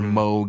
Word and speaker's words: Moog: He used Moog synthesizers, or Moog, if you're a piece of shit and have to pronounce things right.